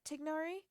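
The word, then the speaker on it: Tighnari: Feruzan tell Master Tagnari, technically his name is spelt Tignari, or said Tignari, but I just prefer Tainari, that she's gonna throw me a surprise birthday party.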